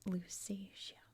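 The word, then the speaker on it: Lusatia: That is in English at least it's pronounced Lucasia where there is an ethnic group of people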